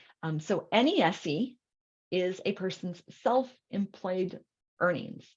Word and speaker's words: NESE: Okay, so net earnings from self-employment, which we pronounce it by its acronym, NESE. So NESE is a person's self-employed earnings.